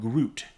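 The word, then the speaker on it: gruit: But they're used to use something called Groot. And it's sort of spelled like you sound. I am not, Groot. Yeah, not R-O-O though. It was like fruit with a G at the beginning.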